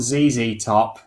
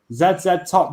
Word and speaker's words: ZZ Top: saying that she's saying it's not ZZ Top over here Bizet says that's not the way to pronounce that Zed Zed top just don't have the same ring to it there's a ZZ Top rolls off the tongue on it yeah Zed